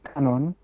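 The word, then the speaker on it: Kannon: for avalokiteswara of course pronounced in the japanese syllables kanseon or kanon and um she is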